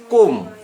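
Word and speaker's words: comb: তাই লেখালাম নাহলে লেখাতাম বিওএমবি বম বম মানে বোমা সিওএমবি কোম কোম মানে চিরুনি ডিইউএম বি ডাম ডাম মানে বোবা বোবা মেয়ে বোবা গার্ল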